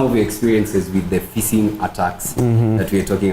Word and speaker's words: phishing: But the pronunciation, the spelling is PHISH. So Oh. you say the same thing as your normal fishing in the but ocean. now with a It's a P. PH at the start.